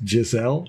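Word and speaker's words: Gisele: like a gazelle anyhow she's pronounced Giselle gazelle what is it Giselle I better learn that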